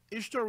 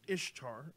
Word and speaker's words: Ishtar: this Easter let's see it's pronounced Ishtar or possibly she should as her symbols are